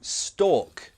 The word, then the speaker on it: stalk: The extreme version is called to stalk someone. Pronunciation, you don't pronounce the L. Stalk, it's like walk.